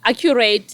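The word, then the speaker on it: AQrate: verification services yeah uh accurate accurate yeah accurate they are but you spell it with aq yes so it's like aq but it's accurate okay so they're based in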